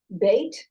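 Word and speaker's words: בית: And this Dagesh is here because it's pronounced Beit, but in the scroll, it doesn't have a dot, so I'm just going to take the Dagesh out, but we're going to pronounce it as a B.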